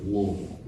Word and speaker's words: Louisville: You gotta say it with you cannot pronunciate a single thing in there, It's all vowels. and they'll talk hella shit if it's not Louisville, it's not Louisville, it's Louisville. Louisville, yeah.